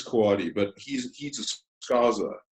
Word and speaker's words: Coady: at a correction, but I think you pronounce it Coady. I always want to say Cody, but I think it's Coady.